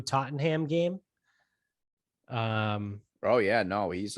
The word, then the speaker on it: Tottenham: He went to the Man U Tottenham game because I think the Glazer family owns Tottenham United in the English league. Dude, it's pronounced Tottenham. Yeah, Tottenham, whatever. Just like Stoneham.